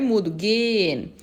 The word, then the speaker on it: gehen: Eu não falo gehen com esse H, eu falo, esse H é mudo, gehen.